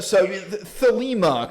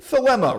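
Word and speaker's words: Thelema: preferred pronunciation yes so thilima can also be found on the internet but yes uh but philema rhymes with dilemma anyway what he did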